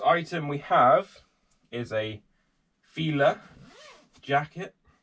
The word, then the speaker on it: Fila: First item we have is a Fila jacket. I think that's how you pronounce it. That's how I always pronounced it. I know some people say Fila, but that just seems weird. So hopefully this fits on the mannequin.